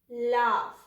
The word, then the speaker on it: laugh: Whenever you have short vowel A sound before GH, so the GH will pronounce F sound, okay? F, like this. K-A-F, calf, L-A-F, laugh, Dra-A-F, draft.